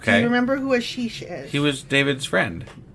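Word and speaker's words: Achish: Do you remember who Ashish is? He was David's friend. That's in the He's a Philistine. David's friend. Yeah. So, first thing is I'm probably pronouncing his name wrong. It's probably Akish.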